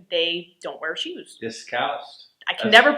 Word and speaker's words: Discalced: So Father Brad is currently discalced.